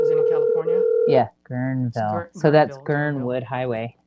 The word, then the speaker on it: Guerneville: Yeah, Guerneville.